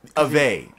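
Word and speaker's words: Aveh: it we're digging up Ave yeah a v e h so the H is silent or it I guess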